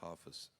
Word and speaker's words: Hafez: And you have a very, very important poet, Hafez. Hafez, they say, the Persian friends. We pronounce Hafez.